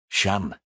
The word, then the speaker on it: Shan: Shan, he repeats. A short a. It rhymes with van.